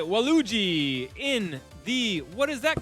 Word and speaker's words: Waluigi: Waluigi.